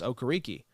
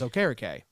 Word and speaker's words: Okereke: It won't matter for me, Well, they also mispronounce Bobby Okereke. Now, to be fair, What'd he they say? never corrected. That's what they used to say was Okereke. And he says, okay. It's Okereke.